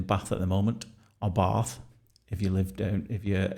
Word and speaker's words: Bath: uh he's been doing his uh masters down there at Bath University and he came up to see us for a a surprise weekend which was always nice.